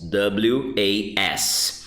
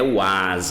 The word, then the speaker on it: was: E aí você tem também a conjugação was. W-A-S. Com esse sonzinho de Z quando fala. E não é was, ok? É som de O. W-O-S, I say was. W-A-S, I pronounce was.